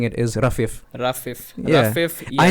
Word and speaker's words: Rafif: It's actually supposed to be pronounced Rafif. Like the I between the two F's Rafif. isn't supposed to be like no. There's not supposed to be any emphasis on it.